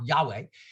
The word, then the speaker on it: Yahweh: who presents yahweh yeah you pronounce it yacht with a j for german ja yahweh the idea that this